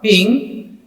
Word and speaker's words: PNG: and the file size while your png or ping is a patent free compressed graphics format that